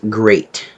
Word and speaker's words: GLEAT: GLE E A but trust me it's pronounced great great was founded in